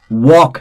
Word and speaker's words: walk: talk L is silent walk again L is silent chalk again L is silent would again L is silent should again L is silent could again L is silent.